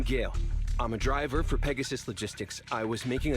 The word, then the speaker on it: Pegasus: I'm a driver for Pegasus Logistics I was making a delivery in the neighborhood oh it's I was pronounced Pegasus I thought it was pegasos pegos or something you know as